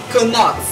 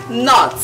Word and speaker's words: knot: is not not not cannot cannot is wrong the k is silent it is not not knot is a